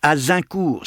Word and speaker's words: Azincourt: et perdurablement, aura nom la bataille d'Agincourt. « On prononce Azincourt, sire.